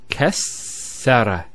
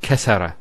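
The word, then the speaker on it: كسّر: And you can actually feel it the way it's pronounced, kassara instead of kassara. So once again, there's the kaf followed by two sins, and then the ra. So kas sukune sara, kassara, not kassara.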